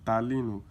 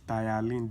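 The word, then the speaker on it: ptyalin: Thene is not palene is thine. The P is silent.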